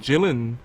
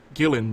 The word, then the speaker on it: Gillan: the part I'm sure K Karen gyllen would have taken it or Gillan M rather just a hard G sound you know Amy Pond